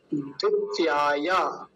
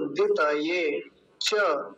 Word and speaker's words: द्वितये: इदम वरुणाय, वरुणाय द्वितीयाय, द्वितीयाय द्वितये। द्वितीय नहीं बोलेंगे इसको, द्वितये च इदन्नमम। अंतिम पंक्ति को फिर से समझिए, इसको पूरी को।